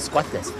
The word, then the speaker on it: Skutenes: Det heter Skvatnes, skrives Skutenes uttalt Skvatnes.